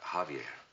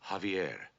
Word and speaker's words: Javier: Javier. Beg pardon, sir? Javier, not Javier. The J is silent. You pronounce it like a ha.